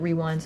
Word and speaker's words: RWD: No one never knew how to pronounce it, but we used to say it Rewind.